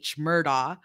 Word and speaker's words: Murdaugh: It's spelled M-U. R-D-A-U-G-H, Murdaugh, but the family name is, the way they